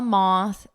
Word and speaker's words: moth: A moth is not a moth in mother.